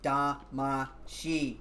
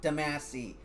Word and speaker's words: Damashi: And it's pronounced Da-ma-shi, not Damasi. Da-ma-shi. Okay? Because it even says it like that in the intro song.